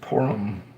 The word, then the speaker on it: Purim: Yeah, it's pronounced Purim.